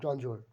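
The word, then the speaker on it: grandeur: হ্যাঁ, গ্রাউন্ডও লিখতে পারি, গ্রাউন্ড ডিওর, এটা গ্রাউন্ডজোয়ার উচ্চারণ হয় গ্রাউন্ডজোয়ার।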